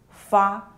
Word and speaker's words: 发: The pronunciation is very similar to that of fa, which means getting wealthy, like this is fa, this is ba, this is fa.